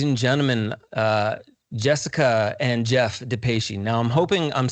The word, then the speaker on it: Depatie: It's Depatie or Depatie, but Depatie is cool too.